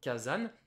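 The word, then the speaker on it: 火山: ou pas non non le mot volcan se dit kazan dans le vocabulaire il est écrit kazan si vous dites kazan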